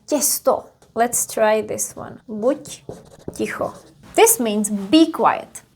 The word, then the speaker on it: buď: And we would write D in here. But because it's at the end, we also pronounce it voiceless. So it would be pronounced as ť.